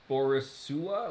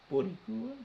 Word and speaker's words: Boricua: Okay, on the list of things that you mispronounced, uh, Squido is still beneath Borisua.